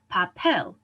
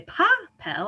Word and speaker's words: papel: these are words like papel right i don't say pa pel i say papel last syllable loose monosyllabic